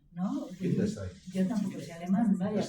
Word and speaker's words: Wittgenstein: Acordaos siempre, esto yo siempre lo digo con relación a Weber, acordaos de que la W se pronuncia como B en alemán y de manera diferente en inglés, como el inglés el inglés tiene tantísima presencia, Sí.